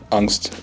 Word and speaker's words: Angst: Angst, it's pronounced Angst.